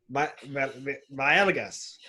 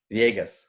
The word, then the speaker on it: Villegas: Man, last name, Villegas. Nope. How do you say your last name, Professor? Make the L silent. Try it again. Villegas. Almost. Villegas. Viegas.